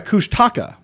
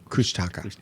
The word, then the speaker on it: Kushtaka: while now it's back cush no sorry kushtaka kushtaka yeah kushtaka that's how they pronounce it I'm sorry Kush